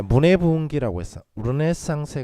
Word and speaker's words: Renaissance: 르네상스에 관한 이야기. 영어로 이제 레너상스라고 읽는데 르네상스 시대에는 굶주린 예술가라는 용어가 없었대요.